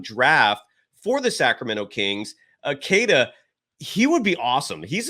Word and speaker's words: Queta: His first name is Neemias, Neemias, last name Queta, Queta.